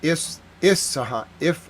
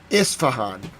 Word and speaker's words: Isfahan: I know I say it right. It's Isfahan. Isfahan. Isfahan. Isfahan. Someone tried to correct me, but it's Isfahan. I know how to say it. Isfahan.